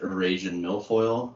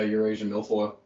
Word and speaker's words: Eurasian milfoil: to pulaski and they got that was it erasing milfoil yeah repronounce it yeah eurasian milfoil and i mean it's thick like there was